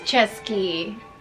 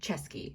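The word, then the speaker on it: Český: See, he says Chesky. Who am I supposed to trust? It is pronounced Chesky, so rule of thumb, always trust Rick Steves.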